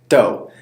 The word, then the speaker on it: do: higher or has a higher pitch the last syllable is the same as the first one which is doe very good and the hand sign is exactly